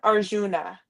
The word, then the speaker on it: Arjuna: I know that's from the um BA how do you pronounce? Yeah. Arjuna.